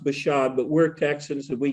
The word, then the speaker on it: Bashan: And it is pronounced Bashan, but we're Texans and we get away with Bashan because that's why we normally, but it is really pronounced Bashan in Hebrew.